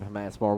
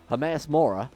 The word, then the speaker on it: Hermaeus Mora: We're not going to openly worship Hermaeus Mora.